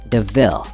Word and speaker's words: De Ville: Horace steals Estella a new car called a Panther de Ville, and points out the similarity to the word devil, though it's pronounced DeVille.